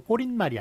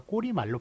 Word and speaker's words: 꼬리말: 예, 왜냐하면 그 발음을 머릿말로 하지 않습니다. 머리말이 맞아요. 마찬가지로 그 결론을 얘기하는 꼬리말, 예, 그것도 꼬린말이 아니라 꼬리말로 발음을 해요. 그렇기 때문에 머리말, 꼬리말은 발음 자체가 꼬린말, 머릿말이 아니라 머리말, 꼬리말이기 때문에 사이시오 붙이지 않는다라는 것 기억해 주시기 바랍니다.